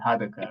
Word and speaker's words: Hardaker: So Professor Claire Hardaker, I hope I'm pronouncing your surname correctly, Hardaker, right? It's fine. Even British people struggle with it. It's Hardaker. Hardaker, It's all it's a good.